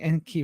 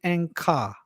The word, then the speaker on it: Enki: I'm going to say that I think that we are not pronouncing Enki right. I think they've lied to us or they've made a mistake. I think it should be Ankar, as in an anchor.